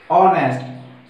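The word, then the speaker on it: honest: और कैसे रहता है ये एग्जांपल देखिए, ऑनेस्ट, लेकिन एच ओ एन ई एच से स्टार्ट हो रहा है, बट इसकी जो प्रोनाउंसिएशन उच्चारित हो रहा है वो हो रहा है हमारा ऑनेस्ट से, एच इसमें साइलेंट है, ठीक है।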